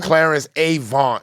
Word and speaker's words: Clarence Avant: This and they guy, call him Clarence Avant, is how they say it.